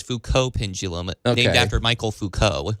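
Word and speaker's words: Foucault: Joe I think it's Fuko pendulum named after Michael Fuko the French so it's a French pronunciation but either way folks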